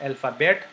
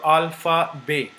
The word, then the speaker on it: alphabet: So we'll start here with the French alphabet. So the first word you will learn in French is alphabet. This is not alphabet, but because T is not pronounced, why we will learn just later when we learn about the pronunciation.